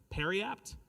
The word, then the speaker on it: periapt: Am I pronouncing it correctly? Periapt?